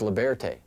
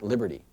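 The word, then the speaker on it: Libearty: studied the Beanie Babies this is liberte not Liberty this is the Princess Di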